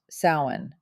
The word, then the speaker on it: Samhain: Our journey begins with the ancient Kelts in their festival of sin, pronounced sin.